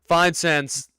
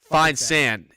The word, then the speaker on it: Feinsand: So Mark Feinsand's, how do you pronounce that last name? It always gets me. Feinsand.